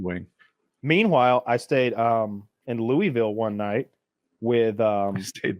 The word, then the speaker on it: Louisville: if you Well, you know, gotta say it right. You gotta say Louisville.